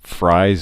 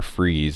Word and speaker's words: Fries: His name is William Dale Fries or Freeze. It's spelled like fries.